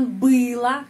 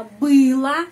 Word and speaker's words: было: Untuk netral, было, diakhiri dengan huruf O, tapi kita mengucapkan было, karena pengucapannya berada pada huruf U, ya, было, huruf O dibaca A.